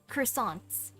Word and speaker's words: croissant: She can play this, she can dance, she can draw, she can even bake super yummy croissants.